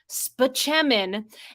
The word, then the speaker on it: Spaceman: Rock Dr Leo Spaceman who pronounces his last name spechamin is played by what